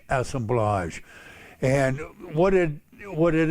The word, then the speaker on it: assemblage: it's pronounced assemblage it's a French word like collage assemblage and what it what